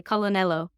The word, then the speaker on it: colonnello: So colonel, like we would say it in English, in Italian, you pronounce that L. You say colonnello.